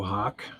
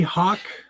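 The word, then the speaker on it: Hauk: There it is, the Loco Hawk.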